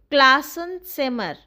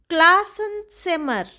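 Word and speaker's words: Klassenzimmer: M classen simmer. Please repeat after me for correct pronunciation. M class and simmer.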